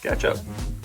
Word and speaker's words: SketchUp: SketchUp. Rhymes Very common CAD tool. rhymes with ketchup.